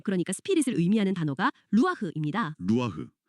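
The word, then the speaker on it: רוח: 루아흐. 발음부터가 약간 바람 소리 같네요.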